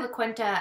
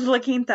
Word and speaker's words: La Quinta: it about no no no we stayed at la cuenta at another point yeah speaking speaking of la quinta i need to tell everybody oh that's how